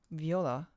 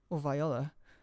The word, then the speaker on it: viola: sound of a solo viola viola I think both pronunciations are pronunciations are acceptable yes correct me if